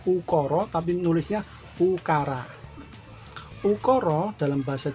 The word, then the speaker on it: ukara: Jawa disebut dengan ungkoro jurusannya ukara Jadi kalau membacanya ukoro tapi nulisnya ukara-ukara dalam bahasa Jawa ada tiga